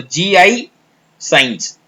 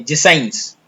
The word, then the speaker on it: GIScience: So GI science. Okay, GIS.